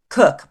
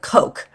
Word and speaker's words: Coke: Lord, I always say Lord Cook, but you guys pronounce it Lord Coke.